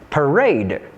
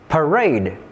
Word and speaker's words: parade: There are some exceptions where the stress of a noun or an adjective is placed on the second syllable. For example, the noun parade, parade, and idea. Idea.